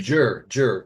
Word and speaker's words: Győr: and pronounce this name, Győr, is that right? Győr, Oh, Hungary? Jur. My dad's Győr. hometown Okay, is Jur.